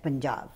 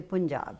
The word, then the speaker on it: Punjab: are on air and when you say the Punjabi words like Punjab, you don't say Punjab. Yes. You know, you say Punjab, Chandigarh, and all those words properly pronounced, that gives such a